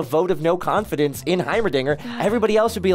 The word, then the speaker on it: Heimerdinger: had a moment I I thought for some reason I thought it was himr himr um something how do you say again Heimerdinger Heimerdinger I I didn't know it was a Dinger Dinger um sorry I